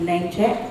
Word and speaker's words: Namechk: There's a website called Namecheck and it's spelled NAMECHK. And what you can do